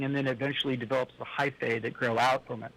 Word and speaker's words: hyphae: You said it right, hyphae.